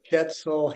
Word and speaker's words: Schetzel: Schetzel, Hill, Schetzel rhymes with pretzel.